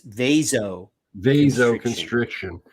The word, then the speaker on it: vasoconstriction: There's no IO. It's vasoconstriction.